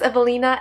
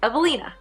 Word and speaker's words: Ewelina: and raised in poland w in poland is pronounced as v so it's evelina i love watching kardashians